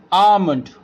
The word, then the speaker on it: almond: let's see the example almond here we can say m is a consonant and L used before this M so there why that is why L is a silent in this word talk you can see